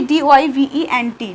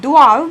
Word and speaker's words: doivent: Okay, D-O-I-V-E-N-T, doivent, but we do not pronounce E-N-T, so pronunciation is doivent.